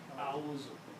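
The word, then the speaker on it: أعوذ: Now pronounce, it's very easy on the tongue. A'udhu. A'udhu. It's easy coming out of your mouth.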